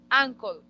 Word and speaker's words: uncle: Entonces recordemos pronunciación. La mayoría de las palabras en inglés que tienen U se pronuncian como A. Entonces yo no digo U, sino digo A. Uncle.